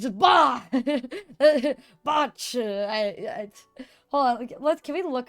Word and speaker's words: Bach: You have to like growl.